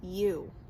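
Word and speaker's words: ewe: female sheep is a you and it's spelled e w e and it's pronounced you mm-hmm you probably know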